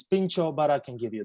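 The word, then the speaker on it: pintxo: wrong niran not um i'm not sure how it's pronounced i'd say p-i-n-x-o think so uh yeah it's pincho but i can give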